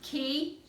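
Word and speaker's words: כי: And your last one, Ki. Ki. There's your Cholam Hay, and it means thus or here. Why does it have a, why does it pronounce key?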